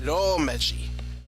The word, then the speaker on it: romaji: It's not pronounced romaji or romaji or whatever. It's romaji.